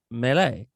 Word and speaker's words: melee: So melee is, the French say, is how you pronounce melee.